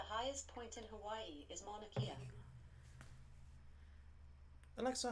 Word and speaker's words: Mauna Kea: It's Mauna Kea, sweetheart, not Mauna Kea. Kea. Eh.